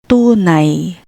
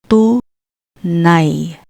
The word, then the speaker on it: tunay: For I, when you see this in a Tagalog word, remember, the pronunciation is I, not A. I, like gulay, gulay, gulay, meaning vegetables. Tunay, tunay, tunay.